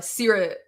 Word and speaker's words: Seerat: I always tell people uh sear it like a steak.